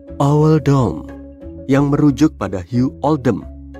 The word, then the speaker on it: Oldham: Kalau dibaca kayak emoji, berarti owl dom, yang merujuk pada Hugh Oldham.